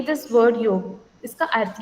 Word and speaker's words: योग: So when we से the word योग, जब हम लोग संस्कृत में प्रोनाउंस करते हैं तो उसका उच्चारण सही तरह से होता है, जैसे कि योग. मगर कई लोग जैसे इंग्लिश में प्रोनाउंसिएशन जब हम करते हैं तो इट is always मिसप्रोनाउंस्ड एज योगा, तो उसको एक्चुअली योग ऐसे कहा जाता है.